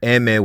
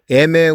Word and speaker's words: eme: rules and the term emme was born eme was the spanish phonetic pronunciation of the letter m for mafia mexicana or